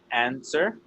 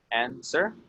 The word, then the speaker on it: answer: Over here we have answer. Answer. Remember the W is silent.